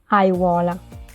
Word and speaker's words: aiuola: And what I like to do to practice also their pronunciation is repeating this amazing word, which is aiuola.